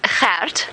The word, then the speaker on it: Gert: That is Gert, for those of you that are struggling with pronunciation.